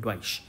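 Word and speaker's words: Deutsche: and Dava bank correct इसका spelling D यूई टी एससीएच ए इसको कहते हैं डॉइश आपको पता है जर्मनी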